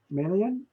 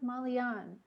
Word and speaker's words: Malan: to pronounce your name is it melan we're not hearing you though you're not muted I'm not muted ah now we hear you okay great hi hi it's pronounced malan malan yes what is that